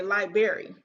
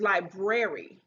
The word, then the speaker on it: library: of an english origin another word that people pronounce incorrectly is library they say library like they bring in some lies but his library so these are some examples of some pronunciation